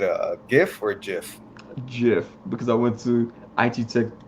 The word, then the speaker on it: GIF: uh you said a gif or a gif jiff because i went to iq tech itt technical